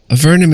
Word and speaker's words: Avernum: war with the Nephilim it could also be pronounced avernum never know I like a vernum though anything I can